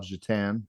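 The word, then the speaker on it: Šatan: be an NHL player named Miroslav Jatan but it's spelled his last name was spelled Satan yes yeah you remember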